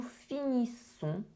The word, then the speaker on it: finissons: For this one, again, the ending ONS is a nasal sound. So you do not pronounce the N, you do not pronounce the S, is n.